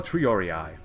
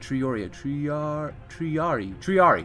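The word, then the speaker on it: triarii: And nova triorii. Wait, triari.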